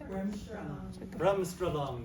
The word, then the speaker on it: Bremsstrahlung: Bremsstrahlung. Bremsstrahlung, that's right. Spell it.